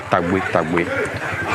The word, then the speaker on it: Tagbo: If you come and you cannot pronounce it, why should we change it for them? So technically, it's Tagbo Falls. It's Tagbo Falls. Grandfather. No. Also, people call it Togbe.